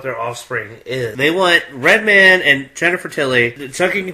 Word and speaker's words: Redman: Is it Redmond or Redman? It's Redman.